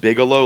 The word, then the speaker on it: Bigelow: get the same one I think it's pronounced Bigelow like the wrestler but I don't know